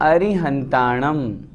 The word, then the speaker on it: अरिहन्ताणं: नमो अरिहन्ताणं शुद्ध उच्चारण हम करेंगे। अरि री छोटी है।